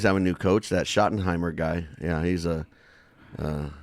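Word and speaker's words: Schottenheimer: next season it's true hopefully it won't be shimer shoty okay shotten Heimer that's it he's like he's the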